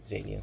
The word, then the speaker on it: Zaillian: Brilliant screenplay by Steve Zaillian. Is it Zaillian? Yes, Zaillian, that's how you say his name.